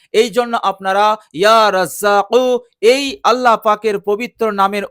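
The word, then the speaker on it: يا رزّاق: সেটা হচ্ছে কফ, আর এই কফ উচ্চারণ হয় জিবের গোড়া থেকে, অর্থাৎ কফ, কফ। তো এর উচ্চারণ হবে ইয়া রাজ্জাকু, ইয়া রাজ্জাকু। আমরা যদি ইয়া রাজ্জাকু বলি তাহলে কিন্তু এটা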